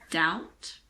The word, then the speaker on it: doubt: which the B is silent before the letter T these words are debt doubt and subtle this also applies to